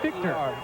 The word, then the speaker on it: Fichter: F-I-H-T-E-R, but pronounced Fichter.